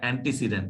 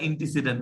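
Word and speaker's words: antecedent: দেখছো এটা অ্যান্টিসিডেন্ট, এটা কিন্তু ইন্টিসিডেন্ট না। অনেকেই আমরা ইন্টিসিডেন্ট উচ্চারণ করি, কিন্তু অ্যাকচুয়ালি এটা কি, অ্যান্টিসিডেন্ট।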